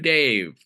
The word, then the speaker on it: Dayve: So new Dave, and it's spelled Dayve, like, oh, a new day.